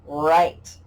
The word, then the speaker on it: write: learned this yet but when there's a w in front of an r a worm in front of a rooster that worm is silent that w is silent